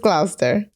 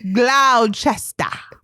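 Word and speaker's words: Gloucester: Alex let me think is it gloss glister gler gler get out of here yeah it's just gler footnote this is my favorite Shakespeare play in my entire life I have said glow Chester because we're American we can't help it GL what is it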